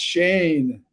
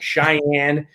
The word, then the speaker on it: Cheyne: person i'm a person my name is shane spelled c-h-e-y-n-e my whole life i've been called everything other than shane like cheyenne cheney misspelled like ruth right